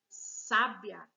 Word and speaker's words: sábia: Na letra A, diz assim: era uma pessoa sábia. Sábia. Olha o sábia. Sábia. Tá faltando esse acento, porque tá escrito aí, era uma pessoa sabia. Não, era uma pessoa sábia, que significa inteligente e esperta.